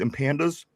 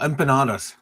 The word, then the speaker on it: empanadas: Um, how do how do you pronounce these? Empandas. Empanandas. Oh, empanadas.